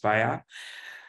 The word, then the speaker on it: Spirē: It's pronounced Spirē.